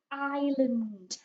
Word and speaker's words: island: from our geography lessons this one has got a silent s in the middle so we don't start this word with it's is this is the word island okay can you remember from